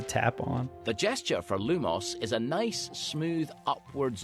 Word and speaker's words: lumos: go the incantation to light one's wand is lumos your turn try saying the incantation for this